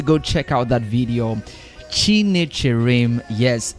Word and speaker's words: Chinecherem: Chinecherem. Yes, it's just how it sounds. That's how it's spelled.